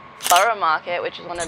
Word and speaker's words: Borough: It's spelled Greenwich, but it's said Greenwich. Borough Market, which is one of the bigger markets in London.